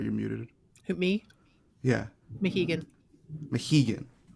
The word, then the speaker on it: Mohegan: The next one looks like, was it Mihogan? What is it? The new. Sorry, you're muted. Who, me? Yeah, Mohegan. Mohegan. I knew I was getting that first syllable wrong.